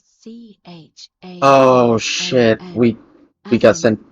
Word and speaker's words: Charon: It's just as you described it, only your pronunciation is a little off. The name you heard wasn't Karen. It was C-H-A-R-O-N.